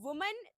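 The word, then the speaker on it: women: Kind of sentence you गेट इट बाय the pronunciation. If somebody is saying वुमेन then it इज़ a single lady we are talking about.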